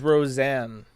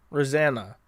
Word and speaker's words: Rozanna: if you don't know, the baby's name is Roseanne. Rosanna. Spelled with a Z. So like Rozanna.